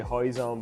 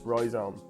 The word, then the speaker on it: rhizome: this is the Roy Zone I always say hoizen because my wife's Portuguese and they don't pronounce the ore so I was about to say hi zon but it's rhizome and this is the stem also known as